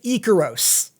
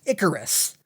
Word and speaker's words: Ikaros: Icarus is the romanization, yes, but if you check the original Greek, it’s spelt like this, and pronounced as Ikaros!